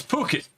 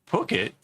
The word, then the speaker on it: Phuket: I'm like, Phuket? And I was like, because PH is how you say phone. And that makes it sound completely different. And like, I couldn't believe that wasn't being pronounced differently.